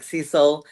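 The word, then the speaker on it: Siesel: There's the way it's spelled as like ceil uh like diesel except with an s e s e l s i e s e l right or happy the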